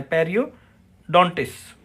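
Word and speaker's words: periodontist: होता है peri पेरिडॉट अब दो एस के बीच में टी आएगा तो टी साइलेंट रहेगा तो यहां पर एस टी एस जो लास्ट में आप देख रहे हैं इसमें टी को साइलेंट रखना है पेरियो डटस गम स्पेशलिस्ट नेक्स्ट है पीडियाट्रिशियन तो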